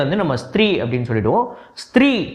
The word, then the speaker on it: ஸ்த்ரீ: அப்புறம் ஸ்த்ரீ, ஸோ ஒரு கமெண்ட் ஒருத்தர் போட்டிருந்தாரு, நீங்கள் ஸ்ட்ரீன்னு சொல்கிறீங்க, ஆக்சுவலாக அது ப்ரொனவுன்ஸ் வந்து ஸ்த்ரீன்னு சொல்லணும் அப்படின்னு சொல்லிட்டு.